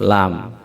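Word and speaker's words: لام: Mungkin secara bacaan tidak terlalu sulit ya huruf lam ini, karena dia mirip dengan huruf L.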